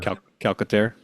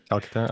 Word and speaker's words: Calcaterra: Grant Calcaterra, is that how you say it? I can never. Calcaterra. Calcaterra, okay.